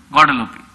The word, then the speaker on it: Guadalupe: Guadalupe.